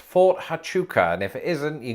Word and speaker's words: Fort Huachuca: So I think it's pronounced Fort Huachuca, and if it isn't, you can call me Ethel. Fort Huachuca. No way! There's a silent H in it.